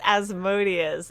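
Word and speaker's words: Asmodeus: don't even know how to pronounce this one Osmos what what is aimus it's pronounced it's pronounced as modius it's the name of a it's the name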